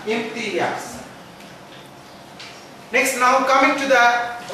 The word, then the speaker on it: Imtiaz: So I don't want my name to be mispronounced. It's Imtiaz. Okay, that's enough. Nothing about the trainer. Imtiaz. This is the great thing which I have in my back. My name. Pronounce it right. Imtiaz.